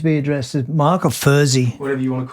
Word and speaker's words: Furzey: Although a lot of people kind of think that's how you say my last name anyway, Furzey. Right. I guess because people have thought it's in German. Actually, this is a good one. In German, you would pronounce my name Furzey if you see the name. Right. If you're German and you read it, you would say Furzey, which I believe that sound in German means fart.